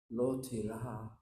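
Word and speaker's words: לא תירא: Now there's a way you say the Hebrew. You say it like a father brushing the hair back on his young son as he lays down with a fever in bed.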